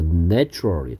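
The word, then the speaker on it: natural: 네이처의 형용사형은 뭐였고 이거였고 a의 발음이 얘는 정식 발음기호로 쓰면 애 발음이고요 뭐 한글로 굳이 쓰자면 그래서 내추럴 자연의 이런 뜻이었고 얘는 네이처 a의 발음이 발음기호로 정식으로 쓰면 a였고 뭐 한글로 쓰자면 a였습니다 갯벌 자연의 선물이었구요 자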